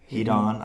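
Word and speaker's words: Heddon: Hedon, I hear it pronounced. I think it's Hedon is the proper way to say it.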